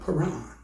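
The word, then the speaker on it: Paran: God coming from Mount pan they saw God coming from Mount p a r a n Mount pan or pan however you want to uh pronounce an IT and mount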